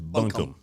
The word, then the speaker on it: buncombe: oh wait wait no no it's buncombe it may be bunkum is that on google did you pull up on google yeah listen listen to the the pronunciation there you go i said it wrong not bun all right it's bunkum okay search buncombe on your